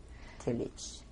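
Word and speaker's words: Tylicz: And the Tillich is spelled T-Y-L-I-C-Z, Tillich.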